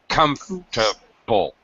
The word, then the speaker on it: comfortable: quite common in English native speakers pretty much always say comfortable comfortable so we don't say comfortable not four syllables we reduce it to three syllables comfortable comfortable we just dropped that comfortable comforable comfortable yeah no you're